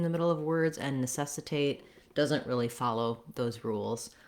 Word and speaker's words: necessitate: end that gets stressed people will over generalize that rule and stress the a in words like necessitate where they shouldn't okay so four words